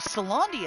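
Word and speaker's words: Caelondia: Oh, Salandia is how you say old Randi the bartender.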